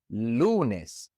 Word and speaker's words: lunes: Lunes ends with an S, and so again, the natural stress goes on the second to last syllable. Lunes.